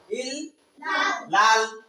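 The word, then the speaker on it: إلا الله: শব্দের লামটা কি হয় পাতলা পাতলা হয় লা উচ্চারণ হয় এজন্য এখানে হবে ইল্লাল ল ল এখানে লা হবে না ইল্লাল লা হবে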